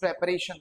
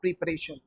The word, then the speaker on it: preparation: अच्छा जैसे आप प्रेपरेशन कर रहे हो या प्रिपरेशन कर रहे हो, this is preparation not preparation, is that clear।